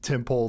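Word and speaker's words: Tehm'pul: It's pronounced Temple the Temple. What? You know, the temple that this all went down in? Yeah. T-E-H-M apostrophe P-U-L. I think it's supposed to be pronounced Temple.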